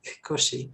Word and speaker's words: Cauchy: names, but Cauchy, I think he's Swiss. I'm Cauchy. not sure. Yeah, You have to somewhere say in Europe. say it the French way. Cauchy.